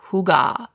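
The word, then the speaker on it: hygge: Strategy number four is recharge with hugah. I know, hugga sounds like a fancy coffee order, but it's actually a Danish word and it's spelled h y gge.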